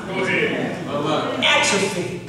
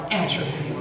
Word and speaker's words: atrophy: Atrophy. Is that right? Is it atrophy? Emphasis on the right syllable.